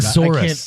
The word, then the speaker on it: thesaurus: That's a hard word. Thesaurus. I can't do that. Think of Tyrannosaurus. Thesaurus.